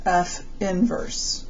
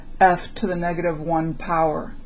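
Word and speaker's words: f⁻¹: The inverse function of f is f, I would pronounce this f inverse. That's how I would pronounce that. I do not say f to the negative 1 power. It is not a power.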